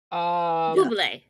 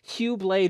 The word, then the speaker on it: Bublé: Bublé. I think you spelled his name wrong.